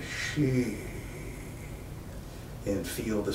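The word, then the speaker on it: xi: written in pinyin as X I pronounced like she SH e that she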